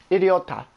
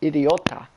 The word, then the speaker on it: idiota: to assume is Spanish the correct version of stupid or idiot in Spanish is idiota I di o ta idiota oh no you are